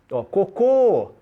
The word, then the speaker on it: cocô: temos o problema o essa palavra cocô né senão de fezes cocô a última sílaba tônica isso é oxítona se você colocar o acento e tem que colocar cocô não se eu não